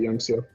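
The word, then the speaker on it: YoungSYU: Yeah, he pronounces it Youngsu. Oh, thank God, Youngsu.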